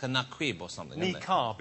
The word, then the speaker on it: niqab: But we also put, we think it's either naquib or nakid. It's something like that. It's like a naquib or something. Niqab is how it's pronounced. That's the correct answer. Niqab.